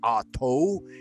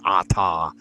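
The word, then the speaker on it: אתה: Right now, Israel Regardi has said it Ato. You can watch his video and listen to his pronunciation. But most modern practitioners agree that it should be Ata.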